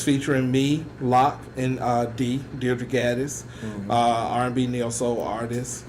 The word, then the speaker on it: Deirdre: But her name is pronounced Deirdre, and he put it in the message, D-E period, E-E, like, what?